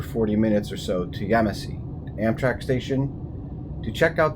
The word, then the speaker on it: Yemassee: Yemassee. That's right, I looked up how to pronounce it finally.